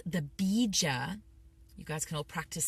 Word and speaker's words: bija: I sometimes use a tantric tool, mantra tool called the bija. You guys can all practice saying that at home. Bija, it's spelled B-I-J-A, Bija mantra.